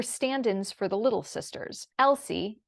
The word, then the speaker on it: Elsie: the Mad tea party Elsie Lacy and Tilly were stand-ins for the little sisters Elsie e-l-s-i-e but pronounced l-c was a representation of